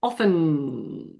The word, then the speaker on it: often: Okay everybody, the T is silent. There is no T in the word often. Often and that is also true in American English.